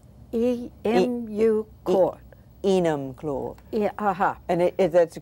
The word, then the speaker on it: Enumclaw: We're in a place that the name I find trouble like pronouncing, M-U... Enumclaw. E-M-U-Claw. Enumclaw.